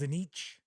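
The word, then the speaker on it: Tzeentch: And the background to the story is that a bounty hunter learns that Castor is actually this bigwig with this, I think it's pronounced Zenich, is the chaos god that the Purple Hand worships.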